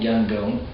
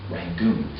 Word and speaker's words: Yangon: so in a city like younger is called Yangon but it's also called in the colonial anglicized pronunciation rangoon the city has many different layers like you